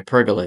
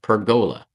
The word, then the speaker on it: pergola: you remember watching my pergola video well excuse me I learned I pronounced that wrong it's called perola that just sounds strange to me anyway getting back